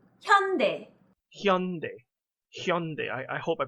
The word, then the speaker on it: 현대: new S-League, and apparently this is how you pronounce it. 현대, 현대, 현대. Hyundai.